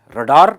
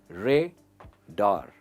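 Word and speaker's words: radar: लिए यूज होता है रडार। हम रडार कहते हैं, इसकी सही प्रोनाउंसिएशन है रेडार, रेडार एंड नॉट रडार।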